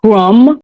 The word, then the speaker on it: crumb: And then we have crumb, the B is silent, and plum.